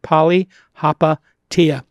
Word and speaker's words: Palihapitiya: With me, as always, my co-host, Chamath Palihapitiya, if you don't know how to pronounce it, Palihapitiya.